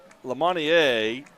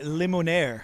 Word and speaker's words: Limonaire: James Overton is watching tonight from camp, and I don't know how to say this, Lamonier, I'm probably not pronouncing that right, from Djibouti, Africa. All right. And he is I'm going to say Limonaire. Limonaire, there you go.